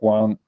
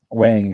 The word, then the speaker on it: Wang: and you know Nick Nick Wong Wang excuse me I say it wrong you know did a